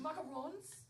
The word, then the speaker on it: macarons: It's pronounced macarons. Oh, sorry. Yeah, macaroons.